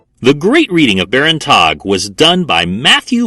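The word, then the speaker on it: Tagge: call it tag and I sometimes call it tog sorry guys it's just a weird name it's spelled weird I'm gonna say it weird I'm just going for it right now I'm calling it tog and we see two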